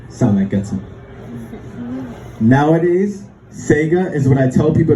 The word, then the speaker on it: Tsega: my life you see I pronounce my name in two ways there's and there's Saiga Saiga is the traditional Ethiopian way to say my name it's what my